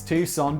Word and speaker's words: Tucson: landscape from tuckson i know it's tucson but why are those letters the wrong way around toxin arizona to las